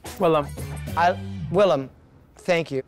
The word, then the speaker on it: Willam: William? Willam. Willam, thank you. It's spelled right on my headshot, it's in there, so just on the way out.